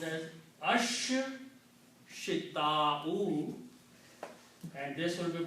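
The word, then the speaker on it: الشتاء: Also, sheen and swad both are shamsi letters and they kill the sound of lam and make them pronounced twice with the shadda. So this will be pronounced as ash shita'u and this will be pronounced as saifu.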